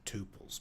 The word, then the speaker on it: tuples: sort a list of tuples my dad pronounces it tupes by the way tupes tuples tupes to me tomato um let me start